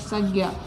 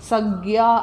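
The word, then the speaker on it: संज्ञा: പേരിനെ സൂചിപ്പിക്കുന്ന ശബ്ദമാണ് എന്ത് സഖ്യ സഖ്യ എന്നാണ് ശരിക്കും അതിൻ്റെ ഉച്ചാരണം ഹിന്ദിയിലൊക്കെ നോർത്ത് ഇന്ത്യൻ ശരിക്കും അത് ഉച്ചരിക്കുന്നത് സഖ്യ എന്നാണ് പക്ഷെ നമ്മൾ നമ്മൾ മലയാളികളുടെ പ്രത്യേകത എന്താ നമുക്ക് ഏത് ഭാഷയും അതിൻ്റെ അതാത് അക്ഷരങ്ങൾ അക്ഷര സ്ഫുടതയോടുകൂടി ഉച്ചരിക്കാനുള്ള ഒരു കഴിവുണ്ട് അതുകൊണ്ട് ശരിക്കും സജ്ഞ എന്നാണ് ആ സംഭവം ഉച്ചരിക്ക ശരിക്കും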